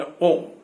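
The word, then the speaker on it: ॐ: कहते हैं यह ओम जो है, एक अक्षर, दुर्ग ऊ ऊपर चंद्र बिंदु, उच्चारण में ओम, ओम का उच्चारण करते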